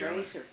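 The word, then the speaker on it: Röser: They called us Roeser, see, because there's two dots above the O that makes it an A. And that's the way our name is supposed to be pronounced, Roeser.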